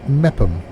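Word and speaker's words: Meopham: It's pronounced Mepham, apparently.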